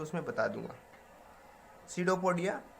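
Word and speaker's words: pseudopodia: Amoeba use its feet called सीडोपोडिया, P silent है इसमें, to engulf the food particle.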